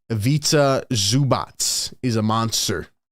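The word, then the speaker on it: Ivica Zubac: chat says evazi avats let me let me get the correct pronunciation just to make sure I'm not uh not botching it but Evita zubatz is a monster it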